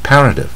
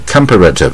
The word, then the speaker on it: comparative: 的也是一样蝴蝶音 comparative 啊，第二个重音你念成第一个 comparative 或者 comparative 啊都不对。